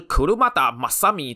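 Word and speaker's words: Kurumada Masami: 沙卫，其发音就是 Kurumada Masami 车田正美。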